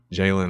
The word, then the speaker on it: Jaylon: You know, Jaylon or Jaylon rhymes with Elon.